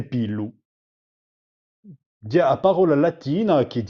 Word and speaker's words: pilu: belo o i belli, ma in un sud dell'isola si dice u pelo. Allora, io ho già preso questa parola perché è appena speciale. Come ho già detto, in un sud dicono u pelo. Pelo, se pigliate a parola latina, a parola latina di pilum. Pigliate a M, a buttate via e avete pillu.